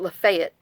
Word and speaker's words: Lafayette: They pronounce it Lafayette.